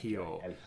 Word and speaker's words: Hijo: Well, you don't have to add that, but you definitely have to have that silent J. You don't pronounce that. Hijo.